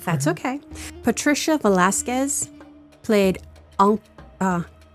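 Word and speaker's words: Velásquez: Uh it's not Velasquez. I looked I mean, it might be Velasquez, but I looked it up and it said Velasquez because I figured I was looking up everybody else's name.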